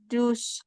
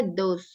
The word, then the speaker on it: those: Keys ya Yang ini e eh dus dus dus Keys are Day eh are are are bacanya those ya Kak those thosekiy are Days thosekiy